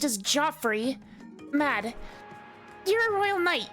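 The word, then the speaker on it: Geoffrey: This is apparently pronounced as Joffrey.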